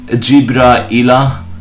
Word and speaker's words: Jibra'il: Narrated Abu Sa'id al-Khudri, the Messenger of Allah related a tradition in which he mentioned the words Jibril and Mikal, and he pronounced them Jibra'ila wa Mika'ila.